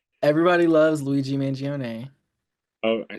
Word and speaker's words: Mangione: In reference to Luigi Mangoni. Everybody loves Luigi Mangione. Oh, I said his last name wrong, but it's okay.